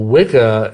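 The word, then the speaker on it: Wicca: Witchcraft and Magic well wickah it's it's actually the it's pronounced Witcher really it's the old anglosaxon word that means bent or Twisted originally but it it's the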